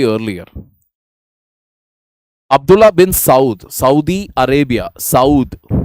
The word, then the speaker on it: Saud: Abdullah bin Saudi Arabia, Saud. It's a Saud family. Saud. That is how you pronounce it actually.